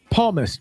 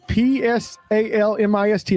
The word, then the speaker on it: psalmist: Instagram he is the smoking sorry the smoking palmus p s a l m i s t. I hope I didn't pronounce that wrong but psalmist psalmist.